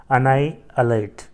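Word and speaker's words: annihilate: इसको क्या कहते हैं इसका प्रोनंसिएशन है अनाई अलट ठीक है स्पेलिंग चेक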